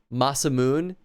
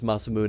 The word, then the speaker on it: Masamune: what do we do run by this pronounced masam Moon I don't think that's true oh oops I didn't mean to skip that I guess it really boils down to how it would be pronounced in Japanese I always thought I heard it as masamune in in things that aren't Chrono Trigger because this that's a